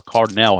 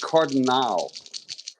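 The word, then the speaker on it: Cardenal: to pronounce it is you could pronounce it Cardel or cardol I pr pronounce it cardal Cardinal okay with that a at the end that makes more sense okay it's not like a cardinal not like a St Louis Cardinal it's cardal cardal cardal okay well no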